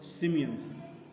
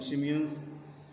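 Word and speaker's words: Tsimshians: T is silent. Be very means careful, children. T is silent here. It is called Shimians. Heddas and Shimians are the two tribes there in North America.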